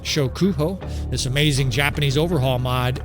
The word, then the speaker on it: Shokuho: I have the battle size mod turned off because we've been fiddling around with Shokuku. Man, I'm sorry to mispronounce it. Shokuho, this amazing Japanese overhaul mod, and so we only have like 200 and something troops on the screen.